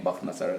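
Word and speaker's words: Bukht Nasr: slightly different name, but if you pronounce the CH as a Kha, then you will come to the name Bakht Nasr.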